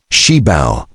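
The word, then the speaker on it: 시발: The 1950s Cybel pronounced Sheibba built using modified Willie Jeep parts had a raw boxy design.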